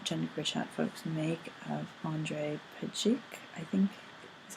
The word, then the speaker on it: Andrej Pejic: which is what genderqueer chat folks make of Andrej Pejic, I think is how you pronounce his name, which was submitted by Witherg.